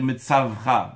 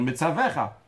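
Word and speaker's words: מְצַוְּךָ: Comme par exemple, s'il y a écrit Anochi Metzavecha, lui il va dire Metzavra, non, il doit dire Metzavecha.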